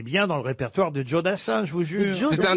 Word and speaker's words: Joe Dassin: c'est à l'américaine, Joe Dassin.